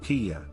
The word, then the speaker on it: Kiba: The name Kiya derived from the Mittanian goddess Kiba, pronounced Kiya.